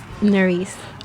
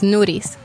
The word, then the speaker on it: Nerys: people call you Noris. In Spanish, it's different. It's Nuris. Noris? Nuris.